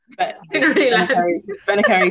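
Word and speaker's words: Bennekerry: Benacary, Tinryland, yeah. Tinryland, is that how you pronounce it, is it?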